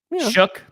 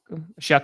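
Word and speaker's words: Shough: So Shook, you know, he just Shuck, excuse me. Shuck. Shuck. It's hard when the name is spelled in no way like it sounds.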